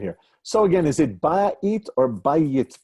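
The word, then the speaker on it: בית: So again, is it ba'it or bayit, pronouncing house? Yeah, the word for house is bayit. The Y is a consonant.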